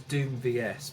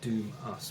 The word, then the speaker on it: Doom:VS: album by the band doom us is eternum veil now it's printed as doom vs but it's actually pronounced doom us which i only found